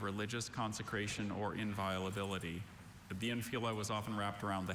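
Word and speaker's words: infula: Are there any alternate pronunciations? There is just infila.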